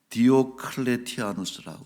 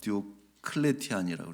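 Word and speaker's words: Diocletian: 바로 디오클레티아누스라고 하는, 영어 발음은 디오클레티안이라고 이렇게 부르는데 디오클레티아누스라고 하는 황제인데, 이 황제는 10여 년에 걸쳐서 교회를 박멸하려고 합니다.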